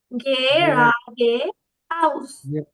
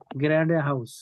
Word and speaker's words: geradeaus: গ্রেডে হাউস, আউস হবে কিন্তু, তাই না?